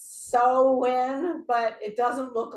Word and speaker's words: Samhain: How do you say it? I never say it right. Sam. Samhain. That one. Mhm. Or Yeah, Sam, I said the way you say it, Rachel. So I'm wrong too. I always say it's Samhain, and that's wrong.